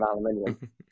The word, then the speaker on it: aluminium: okay made out of aluminium sorry you're the first person on this podcast to pronounce aluminum in the UK way and it's just like oh right different continent different English got it yeah we always